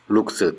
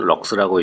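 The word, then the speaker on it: lux: LX는 룩스 또는 럭스라고 읽고 1루멘의 광속으로 1제곱미터의 면을 일정하게 비추었을 때의 조도를 1럭스라고 합니다.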